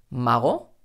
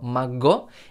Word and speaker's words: mago: con el sonido que por ejemplo mago mago no estoy diciendo mango y tampoco estoy diciendo majo que muchas veces muchos alumnos aquí escuchan una jota pero no es realmente una jota mago malo no es como